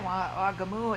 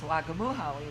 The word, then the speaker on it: Wagamuhawi: My Indian name is Wagamuhawi, which means gourd woman. But they would straighten it, shorten it, and they'd just say Wagamu. And when you say it like that, it means squash.